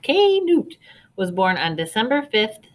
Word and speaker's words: Knut: story isn't he cute canute pronounced k newt was born on december